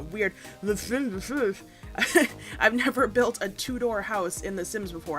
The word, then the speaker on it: Tudor: The Sims before, and I hope I'm saying that the right way because I keep saying two-door. Two-door. And somebody's probably like, Nat, it's actually pronounced, Tudor? Tudor? You're putting too much emphasis on the R at the end.